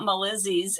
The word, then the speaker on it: Malizzy: Someone asked me about Malizzy's and why Malizzy and how to say it. It's Malizzy and it's for my puppies. I have two little sweet girls. Malizzy is Molly and Lizzie and they are both rescues.